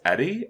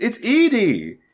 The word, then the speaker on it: Edie: from Lonesome Road, as Eddie, and go fuck yourself, Yogscast fandom, and that. What? You don't call it Eddie. It's Edie.